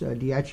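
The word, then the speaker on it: Daiichi: as Fukushima dii uh reactors is dii is number one that's how you pronounce one in Japanese and so it gets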